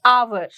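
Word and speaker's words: hour: पर अगर आप देखेंगे आवर जो उसकी साउंड है वो है ए से आवर ठीक है लेकिन स्टार्ट किससे होता है एच से तो यहां पर कौन सा लेटर साइलेंट है एच सिमिलरली ऑनेस्ट वी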